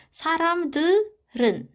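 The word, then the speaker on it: 사람들은: Huruf I yang di sini kita anggap kosong, huruf realnya kita naikin ke posisi yang I yang tadi. Jadinya cara bacanya adalah saram들은. Dia dibacanya lebih ke R.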